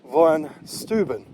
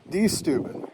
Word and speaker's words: Steuben: there a Prussian General named V stuan or D stubin however you want to say his name both pronunciations are correct well Baron von stuan